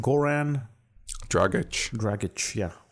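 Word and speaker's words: Dragić: name g Goran dragic dragic yeah I was told to correct I kept calling him dragic so uh Goran dragic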